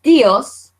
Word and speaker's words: tíos: But I want to hear the I, and I give it its own voice. So actually this becomes a 2-syllable word, okay? Mis tíos, my aunts and uncles.